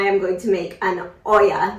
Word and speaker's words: olla: going to make an Oya that is spelled o-l-l-a oh yeah and it is Spanish for pot simply pot but this